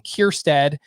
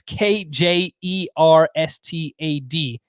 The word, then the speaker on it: Kjerstad: Mitchell, the outfielder for the Brewers, and Heston Kjerstad, who, if you're wondering how that's spelled, it's Kjerstad.